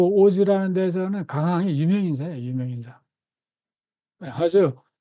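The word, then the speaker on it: 大洲: 지금은 오즈라고 읽어요.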